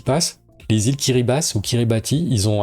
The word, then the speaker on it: Kiribati: Ça se dit plutôt Kiribas, c'est qu'ils ont un alphabet avec seulement 13 lettres et pour le ti, c'est utilisé pour signifier un s.